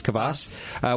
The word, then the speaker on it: kvass: But first, before we get into that, I have, and Averie, help me out, kvass? How do you say this? Mm-hmm. It is kvass.